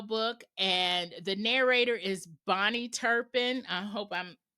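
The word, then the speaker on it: Bahni: And when I got the audio book and the narrator is Bonnie Turpin. I hope I'm pronouncing her name right. It's spelled B A H N I. So I I hope that it's Bonnie.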